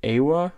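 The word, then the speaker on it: AIWHA: This is from the squad pack AWA, I think is how you pronounce it. It's A-I-W-H-A.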